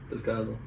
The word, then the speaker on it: pescado: Pescado.